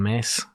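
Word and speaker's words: Myss: There was a lady I was listening to last night, Caroline Mace. I used to say her name, Caroline Miss, which is Caroline Mace, it's an American name.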